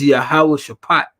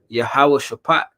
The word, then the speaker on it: Yahawashi: It's Yahawashi. Yeah. Yahawashi. They say the Greek, but we gotta say the Hebrew.